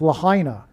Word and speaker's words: Lahaina: So the news came out on 8/8, the day of the Lahaina fire, and she is Rihanna, which rhymes with Lahaina.